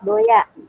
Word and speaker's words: Doea: gini, Doya itu U-nya pakai U, ejaan lama OE. Doa. Ya, harusnya DUA. SMP 2 kan DUA, nah U-nya pakai ejaan lama OE, jadi DOEA dibacanya, digabung jadi Doya gitu.